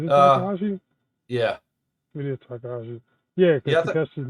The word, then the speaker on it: Takahashi: It is Takahashi.